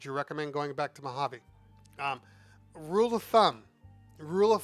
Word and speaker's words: Mojave: they live it's pronounced mojave i know a lot of people pronounce it mojave but it's actually the j is silent so it's mojave just keep that in